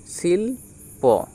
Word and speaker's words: শিল্প: তাহলে উচ্চারণটা কী হলো, সিল, শিল প, শিল্প। ওটাই লেখা আছে তালবস্যয় হস্যই লয়ে প, শিল্প।